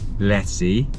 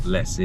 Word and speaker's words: Jesi: We're staying overnight in Jesi. I'm told it's not Jesi because it's with a J, so it's Jesi.